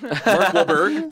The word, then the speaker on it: Wahlberg: Mark Wahlberg. Well, the H is silent.